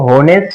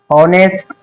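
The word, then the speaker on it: honest: के बाद ये देखो एच के बाद अगर ओ आया तो ओ हमारा एच जो है वो साइलेंट रहेगा जैसे और होनेस्ट ऑनर इस तरीके से अब इसको हॉर्स नहीं पढ़ेंगे इसको होनेस्ट नहीं पढ़ेंगे इसको हॉर्नर नहीं पढ़ेंगे क्या पढ़ेंगे हॉर्स ऑनेस्ट ऑनर इस तरीके से अब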